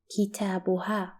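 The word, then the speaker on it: كتابها: and her book represent kitabuha so Aina Kita buhar we have reached the last singular possessive Bruno his and it's pronounced as ha in Arabic and it's represented by the letter ha an example for it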